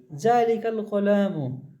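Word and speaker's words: ذلك القلم: এই হামজা জাবারটা উচ্চারণটা হবে না, একেবারে এই কাফের সাথে লাম জড়িয়ে পড়ব। দেখেন, জালিকাল কলামু, ওই কলমটি, জালিকাল কলাম, ওই কলমটি।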